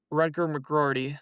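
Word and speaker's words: Rutger McGroarty: Rutgar McGordy, that's how you say his name.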